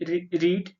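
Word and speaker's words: read: यहाँ पर रीड जो होता है स्पेलिंग सेम ही रहता है, लेकिन जो सेकेंड फॉर्म जब में होती है ये यूज होता है तो इसका प्रोनाउंसिएशन रेड हो जाता है, लेकिन जो स्पेलिंग होती है सेम रहती है।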